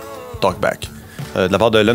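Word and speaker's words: TLKBCK: le 17 mai euh j'imagine ça se prononce talkb mais il a enlever les voyelles ouais donc t l k B C k talkb de la part de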